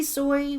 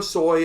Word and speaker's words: SOI: actually pronounce that s-i-s-o-i not not like the soy sauce it's SOI soy we might be soy might